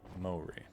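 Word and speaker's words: Māori: Or, oh, Maori. Like mowing lawns is kind of it. Okay. Maori.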